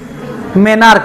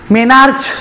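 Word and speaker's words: menarche: of men's cycle non मेनार्क मेनार्के म्हणायच नसत मेनार्कच म्हणायचं स्पेलिंग मधे असणार आहे मेनार्कच म्हणायचं मेनार्च म्हणायचं आपल्याला शिक डॉक्टर दिसू द्या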